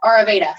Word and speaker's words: Ayurveda: Ayurveda.